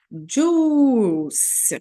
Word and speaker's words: juice: gente tem o nosso juice que a gente não pronuncia esse I aqui então a gente vai falar só juice que são sucos tem